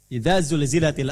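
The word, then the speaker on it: زلزلت: Zulzilatil ardu zilzalaha. Ada yang bacanya sambil dijilat-jilat. Ijajul jilatil ardu. Ah itu yang keliru. Itu yang tidak tidak tepat ya.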